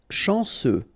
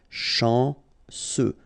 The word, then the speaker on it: chanceux: Chanceux. Final X not pronounced. And then remember, C, E, U will give you this se sound. Chanceux. Chanceux.